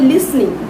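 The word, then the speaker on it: listening: Movie দেখি আর কি করে, লিসনিং টু মিউজিক। দেখো এটার সঠিক উচ্চারণ হবে লিসেনিং না, এটা সঠিক উচ্চারণ হবে লিসনিং, লিসনিং, নো লিসেনিং না, লিসনিং।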